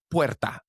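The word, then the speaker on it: puerta: It's not whatever you said. It's perta.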